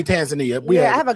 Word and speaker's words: Tanzania: In Tanzania, according to the Africans they say Tanzania. No, we say Tanzania.